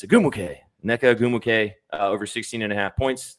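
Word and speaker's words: Ogwumike: And I always want to say her name wrong because I want to say Agumike, but it's not. It's Agumuke.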